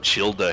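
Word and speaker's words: Childe: Nepka looked up Childa hentai on Twitter, and then she went to jail. What's Childa? Genshin Impact character. Surely. Is that actually how his name is pronounced? I'm pretty sure it's actually Child.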